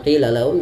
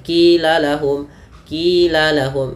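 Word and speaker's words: قِيلَ لَهُمْ: Kemudian pada lafal qila lahum, hati-hati pada lafal qila lahum jangan sampai diganti dengan qila lahum menjadi huruf kaf, tapi dia huruf qi, maka qila lahum.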